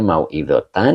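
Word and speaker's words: موعظةً: Nah, ini bacanya mau'idotan, ini sebagai tamyiz begitu ya.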